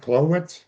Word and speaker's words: Chlowitz: Am I pronouncing this right? Cloitz.